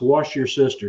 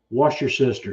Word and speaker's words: Worcestershire: pronounce that now it's wash your sister sauce so if you if you're ever curious about how that's pronounced it's just wash your sister sauce so yeah Levi's having